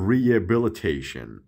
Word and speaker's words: rehabilitation: خب جنگل رو میگم the rehabilitation، اما میگیم the rehabilitation. ریه دیگه اچ تلفظ نمیشه.